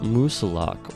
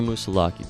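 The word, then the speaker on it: Moosilauke: at number nine is Mount musilok or musalaki depending on how you want to pronounce it I have done this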